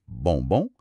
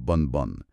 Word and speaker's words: bonbon: Exemple, bonbon, c'est bonbon, pas bonne.